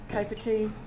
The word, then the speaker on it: Capertee: I wasn't meaning to, but my Capertee.